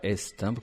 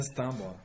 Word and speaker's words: Stimbre: On le dit bien Stimbre et non pas Stimbre comme j'ai déjà entendu. Non, c'est bien Stimbre. Stimbre, ouais, ça se prononce Stimbre.